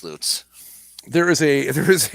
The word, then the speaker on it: Lutz: on john mayberry road it's a town called l-u-t-z pronounce that for me oh uh lutz yeah but it should be watts it should be luts yes see that's that's what i'm talking about but it's not it's loots there is a there